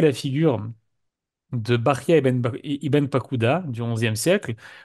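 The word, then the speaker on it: Bahya: Bechaye, vous comprenez que c'est une mauvaise prononciation du prénom Bahia lorsqu'on l'écrit en hébreu.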